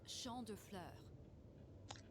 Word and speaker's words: Champ de Fleurs: Champs de Floors? How do you say that? It's Champ de Fleurs.